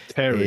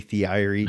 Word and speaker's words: Thierry: avec le nom Thierry, personne ne savait le prononcer. Terry. Et, parce qu'il n'y avait pas un Thierry. Oui, c'est Terry, T-E-R-R-Y, mais pas T-H-I-E-R-R-Y. Donc les gens disaient, mais comment tu prononces? Et donc c'est Theory. Tu vois, c'était impossible pour tous mes copains, les profs, tout le monde. C'était impossible à prononcer.